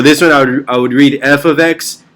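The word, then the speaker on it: f(x): loud in the classroom if you just say fx it's you're going to say like that and i'm telling you you're saying it wrong and you're going to sound dumb to the people that know how to read it so please in your mind say f of x whenever you read that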